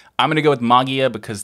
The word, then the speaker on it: Mageia: going to go with magia because technically that's the greek pronunciation or so i have